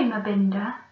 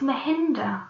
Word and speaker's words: Mahinda: Hello, Mabinda, said Martin's friend. It's Mahinda, I said, but they couldn't seem to say it right.